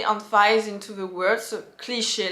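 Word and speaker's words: cliché: a cliche a cliche so when I pronounce like that it's more in the American English way like such a cliche a cliche so I very like un fies a little bit on the second part of the word if you pronounce in French it's cliche cliche there's not like we don't unise we don't really unise into the words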